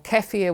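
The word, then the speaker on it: kefir: So plain yogurt or keier, which is actually a Balkan drink that has many times more good flora and fauna than uh plain yogurt.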